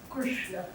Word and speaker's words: Krishna: So a dot underneath the letter means stick the tongue up, pointed to the roof of the mouth. So this is pronounced Krishna. There's no I in this sound.